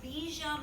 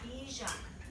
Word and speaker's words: bija: So bija mantras are bija. If you drop the A, that's Hindi. That, like you said yesterday, Bij mantra, then that's a Hindi influence, okay?